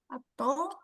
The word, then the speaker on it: kato: Kato. Heeh. Kira-kira hewan apa ini? K ee kucing. Heeh. Bukan keto ya, tapi kato.